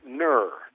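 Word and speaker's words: gnurr: it called it's uh I think it's pronounced Nur how how do you spell it g n r r ner and I think the G's silent well there you go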